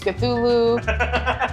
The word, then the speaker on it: Cthulhu: How do you pronounce that? Cthulhu? What? Cthulhu.